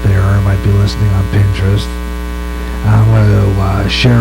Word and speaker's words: Pinterest: I was mispronouncing penin I was call the penin interest but it's not how you pronounce that it's called Pinterest and um I just discovered it by listening